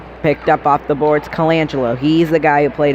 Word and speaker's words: Colangelo: It's Colangelo. That's how you pronounce it.